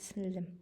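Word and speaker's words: сіңлі: Но часто они говорят «синлим». Создается впечатление, что между «н» и «л» есть еще одна буква «е», но на самом деле так и написано.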